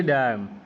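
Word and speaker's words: damn: सुना है ठीक है यह डम डी ए एम एन डम अब उसमें एन साइलेंट एक और डम डी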